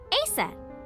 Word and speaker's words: Aset: but in ancient Egyptian, it's pronounced closer to Ise or Aset.